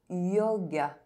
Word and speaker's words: yoga: Y is pronounced Ye when at the beginning of a word and followed by a vowel. Yoga.